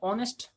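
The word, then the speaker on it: honest: एन ऑनेस्ट मैन होगा, क्योंकि ऑनेस्ट एच ओ एन एस टी तो है, एच कॉन्सोनेंट तो है, लेकिन एच का यहाँ पर कोई प्रोनाउंसिएशन नहीं है, ओ से शुरू हो रहा है।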